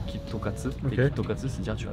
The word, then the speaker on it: KitKat: Japon parce qu'en fait la manière dont tu prononces en japonais ça fait kit ça peut se lire kitokat kitokat c'est dire tu